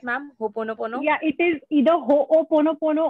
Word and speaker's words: Ho'oponopono: Ho'oponopono?